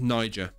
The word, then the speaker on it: Niger: Niger. This one, oh, there you go. It's pronounced Niger.